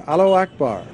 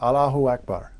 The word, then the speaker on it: Allahu Akbar: get it wrong but Allahu Akbar Allahu out it sounds like a lock bar when they you know